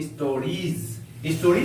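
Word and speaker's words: stories: आर आई ई एस आई ई के बाद एस का प्रयोग किया गया है इस एस का उच्चारण ज के समान होगा इसको पढ़ेंगे हम लोग स्टोरीज इसका अर्थ होता है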